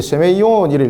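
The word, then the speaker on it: σημεῖον: 그래서 이 세메온이라는 단어를 이것이 읽을 때 세메이온이라고 읽습니다.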